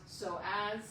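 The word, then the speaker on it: psoas: So as is ps, but it's pronounced soaz, it originates in the lumbar spine and attaches to the femur.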